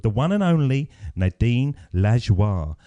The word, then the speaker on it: Lajoie: So I spelt it Lajwar, and I thought that was the best way of doing it.